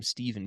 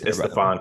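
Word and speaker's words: Stephon: of you for pronounce I called him Stephen Castle it's the Fawn Castle yeah that's on me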